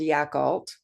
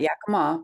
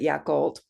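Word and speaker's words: Yacolt: town in Washington state called yakal not Yakama but yakult and I live on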